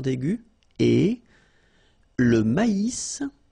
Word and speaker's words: maïs: Le maïs. So here you get this tréma. So maïs. Maïs. And then you pronounce the final S.